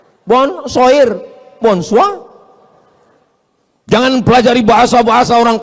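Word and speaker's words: bonsoir: Bacanya bonjou. Bon sair, bonsa.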